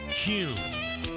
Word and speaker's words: Kuhn: And now, I'm going to share the absolute right way to pronounce Kuhn flowers. It's Kuhn. Kuhn flowers.